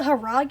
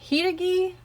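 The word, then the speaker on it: Hiiragi: But in the English version, they call it the Haragi, even though it's pronounced Hiragi.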